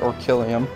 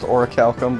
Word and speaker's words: Orichalcum: Don't worry, I pronounced it Orkillium. Yeah. I literally pronounced it Orkillium. That's how I pronounced it. Didn't we only find out it's pronounced Orichalcum because...